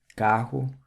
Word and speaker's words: carro: And guerrero or warrior in Portuguese is guerreiro, the double R is pronounced with an H sound. Other examples of this would be the word for car, carro, and land, terra.